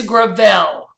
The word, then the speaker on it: Gravel: Is it Gravel? It's Gravel. Gravel. Okay. That was going to be my third choice. I thought there might be something. But it's spelled Gravel. So it's deceiving.